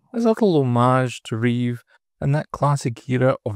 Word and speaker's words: Reeve: People say Reeves, but it's actually Reeve.